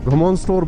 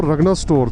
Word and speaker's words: Rganostor: घमोन स्टोर बोलते हैं। घमोन स्टोर और जो लिखा हुआ आ रहा था वो रगना स्टोर था।